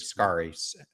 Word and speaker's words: Scarry: And you end up writing about a quote that Elaine, I think her name is pronounced Scarry, Scarry.